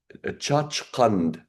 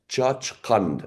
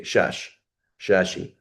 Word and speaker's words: Chachkand: so a Shashi from it used to be called Chachkand, Chachkand, and then it became Tashkent. So the Arabs, how do you say Chach? They say Shashi, but it's Chachkand, like Samarkand, right?